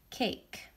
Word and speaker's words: cake: is striked out because this is a sneaky E E and it's sneaky because it doesn't make a